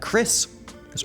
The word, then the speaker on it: Chris's: after the S and you say it like is chrisis or another name could